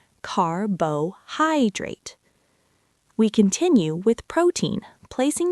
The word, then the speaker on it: carbohydrate: The stress falls on the third syllable, carbohydrate.